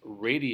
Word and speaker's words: radii: Yeah, the plural for radius is radii.